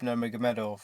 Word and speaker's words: Nurmagomedov: I say his name properly, Khabib Nurmagomedov.